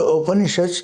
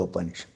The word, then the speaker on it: Upanishad: This is the open issue. Each Veda has some open issues attached to it. Now the word open issue comes from three syllables. Upa ni and shad.